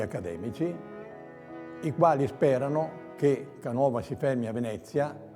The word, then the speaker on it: Canova: una certa importanza forse, si firma Antonio Canova con l'accento sdrucciolo. Il cambiamento di accento da Canova a Canova avrà un significato forse